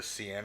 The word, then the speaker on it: Seine: The Seine, I believe it's Seine?